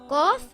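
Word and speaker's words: قاف: it has two dots cough is a heavy letter it should always be pronounced heavy it sounds a little like a crow sound gah the sound does not make a case out it comes from the back of the mouth cough this is what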